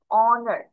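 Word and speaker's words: honor: এখানে দেখো এইটার উচ্চারণ আমরা তুমি হ হবে, তাহলে হনার হওয়ার কথা না, বাট তা কিন্তু হচ্ছে না, আমরা প্রোনাউন্স করে থেকে করছি ও থেকে করছি, ও দিয়ে অনার। তাহলে এইচ ও, অ, নার,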